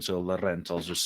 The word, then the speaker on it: Laurent: Yeah, Melanie Laurent. That sounds about right. It's like Lauren with the T at the end. So Laurent, I'll just say.